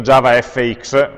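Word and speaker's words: JavaFX: dedichiamo a Java FX scritto Java FX ma pronunciato come fetti Effects qualche flash nel poco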